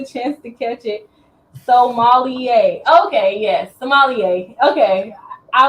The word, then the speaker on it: sommelier: Sommelier. Okay, yes, sommelier. Okay. I was trying to pronounce it too much.